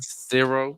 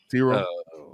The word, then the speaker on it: Ciro: Ciro. Supposed to be kind of like zero, but with an S. Ciro.